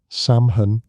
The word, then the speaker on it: Samhain: Samhain was the word many used. Say it like sew in.